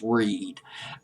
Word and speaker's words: Reid: Maybe it's R-E-E. Well, I'll just pronounce it as Reed.